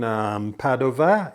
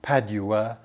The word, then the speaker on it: Padova: in Petronas house in Padova in Italy and yes for those of you were terribly clever you'll probably think does he mean Padua it's just that I'm preferring the Italian pronunciation Petrarca as opposed to